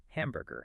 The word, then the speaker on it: hamburger: Hamburger. Hamburger. Mhm. I ate a large hamburger for lunch. Mhm. Hamburger. Put the heavy emphasis right at the front.